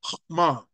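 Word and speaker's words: חכמה: But he also gave them wisdom, the hokmah. And I'll repeat that word because probably you probably didn't pick it up. It's pronounced hokmah.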